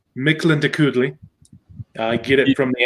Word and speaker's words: Mictlantecuhtli: the name is pronounced Mictlantecuhtli.